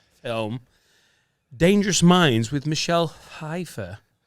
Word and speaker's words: Pfeiffer: Has anyone seen the famous 1995 film Dangerous Minds with Michelle Pfeiffer? A lot of people pronounce that Pfeiffer because they don't know it's a silent Yeah, P.